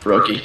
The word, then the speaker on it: Froakie: But now we're on to the Froakie? Is that how it's pronounced? Froakie, yes.